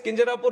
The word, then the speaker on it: Kinjarapu: And my name is Kinjarapu Rammohan Naidu.